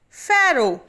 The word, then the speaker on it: pharaoh: the grand gallery note faro is a term used in ancient egypt for the male or female ruler of egypt pronounced as pharaoh at number six is